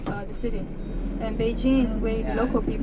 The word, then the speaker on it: Beijing: p is the way that foreigners used to pronounce the city and Beijing is way local people WS when